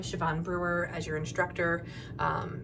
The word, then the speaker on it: Siobhan: Here you'll see at the very top, my name, Siobhan Brewer, as your instructor. It's pronounced Siobhan.